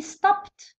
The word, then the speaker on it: stopped: Next word، الكلمة الثانية واش عندي stopped، stopped ت، هاكو تشوفو ت. علاه قري علاه نطقناها ت؟ باسكو قبلها البي، كيكون قبل البي قبل الايدي نطقوها ت stopped.